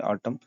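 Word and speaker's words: autumn: जो महीना होता है पतझड़ को बोलते हैं ऑटम और यहां पे एम के बाद यदि एन हो तो वो साइलेंट लेटर्स कहे जाते हैं आप याद रखिएगा वो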